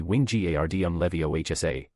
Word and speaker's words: Wingardium Leviosa: "The pronunciation will be Wingardium Leviosa," once again the man slowly explained and the girl nodded her head in understanding. "Wingardium Leviosa," the girl muttered as followed the wand movements